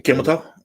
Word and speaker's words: Kamala: Kamala?